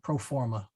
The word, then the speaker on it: pro forma: remember them pro forma actually it's a short o so it should be uh pro for yeah pro forma there we go oh